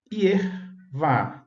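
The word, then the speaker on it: יהוה: Ier não forma sílaba, tá bom? Isso no hebraico, no caso. Ier não está formando sílaba, então é truncado, é a escrita truncada, defectiva. E a outra sílaba seria vá, que é correto, de acordo com a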